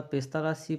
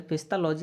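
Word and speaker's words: Pestalozzi: কিন্তু আধুনিক প্রগতিশীল ভাববাদী শিক্ষক যথা পেস্তালাসি ফ্রয়েবল প্রবৃতি শিশুর আত্মসক্রিয়তার বা সেলফ অক্টিভিটির উপর গুরুত্ব দিয়েছেন। পেস্তালাসি চেয়েছেন মানে পেস্তালাসি চেয়েছিলেন পেস্তালজি আছে বা পেস্তালসি যেমনভাবে উচ্চারণ করবে।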